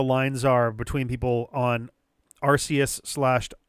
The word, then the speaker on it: Arceus: I would say that at this point, the official pronunciation was the hard C slash K sound, considering the system that was used to create type null is the RKS system and not an RCS system, because it's clearly a